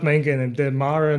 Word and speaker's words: Mare: Maybe this is a dumb question, but why is it called Mare? It's called Mar, not mayor.